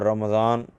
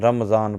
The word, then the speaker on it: رمضان: کیونکہ غلط العام فصیح، جیسے اردو میں عظمت کی غا، برکت کی را اور رمضان کی میم پر زبر ہے، ٹھیک ہے، مگر لوگ ان تینوں یعنی غا، را اور میم کو ساکن کر کے پڑھتے ہیں، عظمت پڑھتے ہیں، رمضان پڑھتے ہیں، ٹھیک ہے، اور برکت پڑھتے ہیں، برکت، حالانکہ عظمت ہے، برکت ہے اور رمضان ہے، ٹھیک ہے، لیکن لوگ